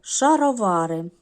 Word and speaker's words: шаровари: у нас так наступне слово шаровари тут ми бачимо 1 2 3 4 склади наголо нагадає на третій склад бачимо 4 голосних і